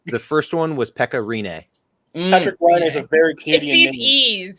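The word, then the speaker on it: Rinne: the e okay the first one was pekka renee patrick is a very kid yes it's these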